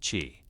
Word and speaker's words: qi: Chinese medicine was built upon the concept of qi, pronounced qi, a vital energy that flowed through all living things and connected the individual to the cosmos.